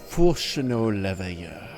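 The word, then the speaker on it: Fourchenault Leveilleur: I was told that it was the one Fulchino Leveilleur. Oh my god, he pronounced it right.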